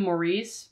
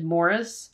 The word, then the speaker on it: Maurice: was in Middle School I'm pretty sure we call him Maurice but I think the British pronunciation is Morris I know the am Forster novel they pronounce it Morris I'm gonna call him